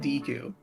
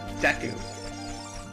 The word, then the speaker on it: Deku: You pronounce it Deku. I think I deserve to make fun of you for that one. Deku.